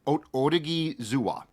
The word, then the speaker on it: Odighizuwa: The pronunciation I found was Odighizuwa.